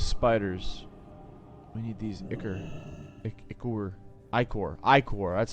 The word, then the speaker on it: ichor: Ichor. That's how you pronounce it.